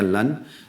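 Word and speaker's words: لن: Dan ada yang satu lagi, lan, bacanya lan, lam sama nun, lan.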